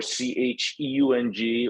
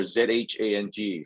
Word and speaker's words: Zhang: His last name is, you'll see it's phonetically spelled out as Chang, Chang, or Cheung, or Zhang. So Sheung or Zhang.